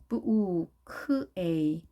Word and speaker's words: bouquet: bouquet, bouquet, bouquet. 자, 발음은 간단하지만 영어 스펠링은 더 길죠. bouquet. 우 발음이 ou, k, ue인 것을 알아두시고요. 자, 이 단어는 프랑스에서 온 거기 때문에 이제 영어식 스펠링과 약간 차이가 있죠. 물론 부 대신에 o 하셔도 됩니다. bouquet 하셔도 됩니다.